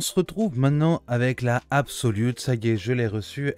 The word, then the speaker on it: ABXYlute: puissiez bien voir le logo absolut ça se prononce absolue ici avec les petites